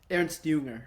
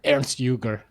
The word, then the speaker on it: Ernst Jünger: Ernst Jünger? Ernst Jünger. Ernst Jünger, excuse me.